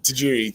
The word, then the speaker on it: Tajiri: I'm saying it wrong. Tahiri Tatiri Tajiri. Tajiri. Tajiri. Tajiri. Yeah.